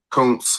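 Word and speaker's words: Kountz: Couns London. K O U N T Z. Pronounce that.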